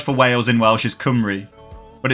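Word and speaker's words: Cymru: So if you were if you was trying to say that phonetically in English, you'd read it and go like simu kimu, but it's kumry.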